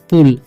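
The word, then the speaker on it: pull: Push हो गया, पी से हो जाएगा प, यू का उच्चारण ऊ और डबल एल का हो जाएगा ल, तो पढ़ेंगे हम पुल।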